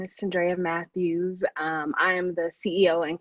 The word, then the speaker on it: Mathews: Yes, that's Mathews.